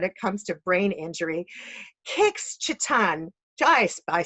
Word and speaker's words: Kix Citton: Kix Citton, you did it.